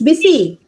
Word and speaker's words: busy: will be buy today it's not Buzzy it's busy busy today okay M willu be